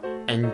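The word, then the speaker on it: ㅏ: What I mean is that this is vowel A. When we read this vowel, we just open our mouth widely and then vocalize. A, A.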